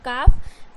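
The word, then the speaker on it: calf: silent करना है जैसे अगर इसे आप एल को साइलेंट नहीं पढ़ते हो तो इस क्या पढ़ोगे का पढ़ोगे बट यहां पर एल को क्या है साइलेंट करना है तो काफ उसी तरीके से यहां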